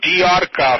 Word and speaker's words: D'Arca: Our establishment is called Diarca Formalware. That's D-A-R-C-A, and that's Italian.